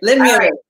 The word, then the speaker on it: Limulus: Is it Limulus? Am I saying it correctly? Perfect. Right. Limulus.